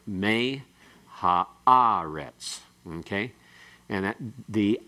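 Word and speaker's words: מֵהָאָרֶץ: The primary accent here still occurs on the syllable that has the aleph and the qamets. So it's me ha'aretz.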